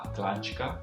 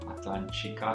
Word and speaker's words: Atlântica: qui viene chiamata Mata Atlantica. Atlantica sarebbe Atlantica, no? La T si pronuncia come una C molto spesso qui.